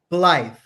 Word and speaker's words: Blythe: But I can't pronounce the name. Blythe.